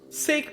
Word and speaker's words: sake: Although, in all honesty, I had to read that sentence and go, how else would you pronounce Saki? And then, I guess, sake makes sense.